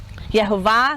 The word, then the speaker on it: Yehovah: Yehovah, that's how we say his name.